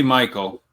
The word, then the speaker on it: Mykel: Basically Michael. Basically Michael Williams.